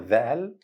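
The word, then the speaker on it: ظاء: You must put your tongue all the way upwards the roof of your mouth to produce it correctly while saying that.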